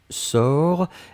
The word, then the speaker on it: sors: personne du présent c'est je sors s o r s on ne prononce pas le s p on doit quand même l'écrire futur simple de l'indicatif